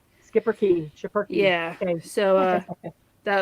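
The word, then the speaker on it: Schipperke: i don't remember correctly it's spelled s c h i r it looks like superkey but they say it's skipper yeah skipper key yeah okay so uh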